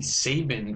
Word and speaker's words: Sabin: are examples of live attenuated vaccines there's the Sabin vaccine pronounced like Nick Sabin but spelled a little